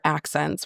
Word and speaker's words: accEncyc: And I had to go to the attorney that represents accEncyc to be like, "Can you please tell me how you pronounce this name?"